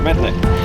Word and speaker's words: Mednick: That's how you pronounce his surname, is it? Mednick. Yes, Mednick.